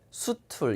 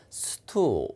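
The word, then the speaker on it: stool: 드문드문 출제가 되는 다네요 근데 발음이 조금 다르지 않아요 여러분이 한번 읽어보시면 스툴 수 툴 이런 소리가 아니고요 제가 아까 s 담에 키는 된소리 된데 있죠 그 다음에 이 l 발음 앞에 모음이 있으며 어가 살짝 들어가요 그래서 어가 살짝 들어가면 수 툴이 아니라 스투 이렇게 꺾여서 올라가죠 바로 만들어 보세요 예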